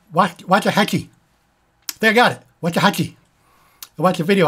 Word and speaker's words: Waxahatchee: Waxahatchee.